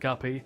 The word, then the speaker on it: Poog: As his work fell into disfavor, Poog, still pronounced Guppy, became personally more cantankerous